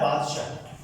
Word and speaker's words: बादशाह: आपको ध्यान रखना है, मैंने आपको पहले भी कई बार बताया कि ये वाला सा और ये शाह, इनका उच्चारण अलग अलग होता है ना। ये सरोते वाला सा है, और ये शकर वाला शाह, है ना, शय्यम, शकर।